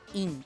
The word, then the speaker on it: ruim: Rim. Esse é o certo. Essa é uma palavra oxítona. A gente tem que separar o U do I.